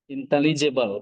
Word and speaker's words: intelligible: Iya, itu inteligible bacanya.